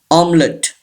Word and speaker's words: omelette: Number four, omelette. This E is silent. This T is also silent. And this E is also silent.